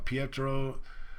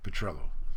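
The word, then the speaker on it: Petrillo: and Emory he was also talking to guy Petro who he later on in June whatever the date was he announced publicly that he was going to retain guy patrello sorry I said the name wrong earlier uh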